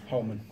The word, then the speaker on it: Holman: How do you pronounce your surname? Is it Holman or Holman? Holman. Holman.